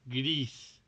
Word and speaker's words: Gris: been playing via that i mentioned earlier greece griss and spanish it's pronounced greece and uh i gotta say it is one